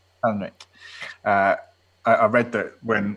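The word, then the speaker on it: Palahniuk: I read as well that um uh when Chuck, how do I pronounce his surname? Halanick. Helenick.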